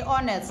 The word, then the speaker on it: honest: But we say honest, not honest. H is silent.